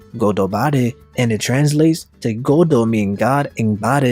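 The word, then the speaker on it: ゴッドバレー: In Japanese, God Valley is pronounced as Godobare, and it translates to Godo meaning God and Bare meaning exposed.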